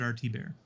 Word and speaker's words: Thibbert: It's spelled Thibbert. So if you're looking for it, Art Thibbert. Yep. But pronounce it RT Bear.